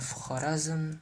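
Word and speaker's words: Xorazm: The X in the Uzbek language is pronounced as a kh, just like how it would be pronounced, just like how it's pronounced in the Cyrillic alphabet as well.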